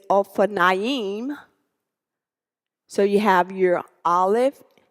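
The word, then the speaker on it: אופניים: So now you can say O, Fa, Na, Ying.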